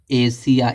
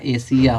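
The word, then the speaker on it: Asia: ए आया है तो य एस का जो उच्चारण क्या निकल रहा है बड़ा सा निकल रहा है तो क्या हो जाएगा एशिया एशिया पढ़ा जाएगा इसको ठीक है यहां देख लो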